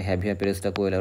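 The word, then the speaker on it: Javier Pérez de Cuéllar: হচ্ছে পেরেস কোয়েলার বা জেভিয়ার pacer আমরা যাকে হ্যাভিয়ার পেরেস কোয়েলার বলতে পারি সঠিক উচ্চারণ আর কি 1989 সালে তিনি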